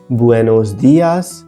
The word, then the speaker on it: buenos días: से दोहराते हैं लेकिन ध्यान रखिए कि इसमें सही उच्चारण ब होता है ना कि ब्यू इसलिए बुएनोस दयास बुएनास तारदेश और